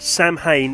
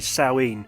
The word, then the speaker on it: Samhain: am totally aware that Samhain is not the proper pronunciation it's actually sewing however I've been reading